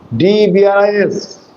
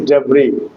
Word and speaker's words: debris: Debris, that is the ruins, D-E-B-R-I-S, but the pronunciation is debris, not debris.